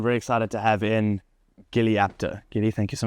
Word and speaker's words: Gilli: many names incorrectly you get my first name wrong actually Gilly Jilly Jill Jillian is is Gilly full name yeah then Gilly yes if it was like